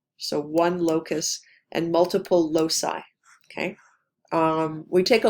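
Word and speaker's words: loci: the pronunciation because it's not obvious how you pronounce this um so that's the singular so one Locus and multiple Losi okay um we take a lot of these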